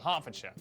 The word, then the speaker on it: Hertfordshire: ER is pronounced R. Berkshire, Clerkenwell, Hertfordshire.